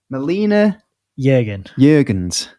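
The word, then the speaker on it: Melina Juergens: It was Now, you're going to have to help me with the pronunciation of this lady's name from Helldivers, from Hellblade 2. Melina Jurgens.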